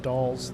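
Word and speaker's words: Dalles: up we're doing 200 he's pinned out it's pronounced dolls okay the dolls traffic the dolls traffic seven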